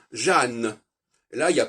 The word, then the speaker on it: Jeanne: c'est intéressant de regarder le prénom Jean, qui est un prénom typiquement français au niveau de la sonorité, Jean. Hein, on n'entend ni le N, on n'entend pas le N, c'est Jean. Par contre, au féminin, ça devient Jeanne.